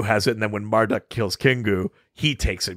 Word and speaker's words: Marduk: she gets supplanted by marduk who after after i keep trying not to say it i keep trying not to say it like martok because i've been watching so much ds9 lately um um like tiamat